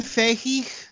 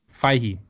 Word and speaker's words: Feige: kicked off the internet is it really Kevin Fahey fie he it's not face like no no no come on man what is this I